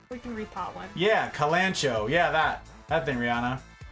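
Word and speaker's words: Kalanchoe: arrange that back we can repot one yeah kalancho yeah that that thing Rihanna Kalan Koi kalon Koi really thank you it must have that was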